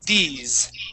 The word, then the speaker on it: these: in Spanish e okay but that s is going to sound more like a z so when we pronounce that word it's these these try that please these